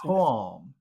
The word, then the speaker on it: calm: let's try this pretend pretend it's spelled like this how would you pronounce that Patu if if if the word were spelled k a w l m how would you pronounce it so that's getting closer that's closer to the sound than before but just not so much